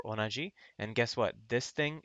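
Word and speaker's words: 同: So the pronunciation is do or onaji.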